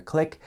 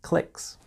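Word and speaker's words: clique: And there are often fights or disagreements between different clicks. You probably noticed already that click is spelled C L I Q U E because it's coming straight from French.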